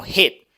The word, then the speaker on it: hit: Después pronunciamos el verbo hit, con la H del inglés y luego la I corta del inglés, hit. No es heat, porque si decimos heat, decimos